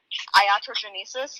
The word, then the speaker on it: iatrogenesis: say this, so science people help out, but iatrogenesis or iatrogenesis, but the one where like once you Iatrogenesis.